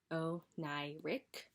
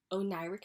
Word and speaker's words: Oneiric: you know what i mean anyway so it's pronounced oh ny rick o'nairec meaning that you're like in a dream-like state